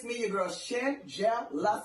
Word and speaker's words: Shangela: It was an incredible video by, it's Shangelas, if I'm saying her name correctly. I'm trying to think who that is. Divas for Democracy, Shangela.